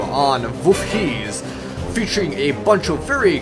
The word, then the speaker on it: Wolfheze: I'm not trying to say Feces. It's a Wolfheze, or in the proper Dutch pronunciation, it's Wolfheze.